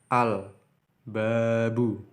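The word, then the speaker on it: الباب: Al-babu, karena huruf ba di sini, di setelah huruf la, huruf ba. Maka la-nya ini diucap dengan jelas. Al-babu.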